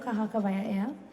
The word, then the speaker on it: Kahakawaia'ea: Earlier we heard the word outside that somebody was trying to pronounce the name Kahakawaia'ea. Well, that is the name, Kahakawaia'ea.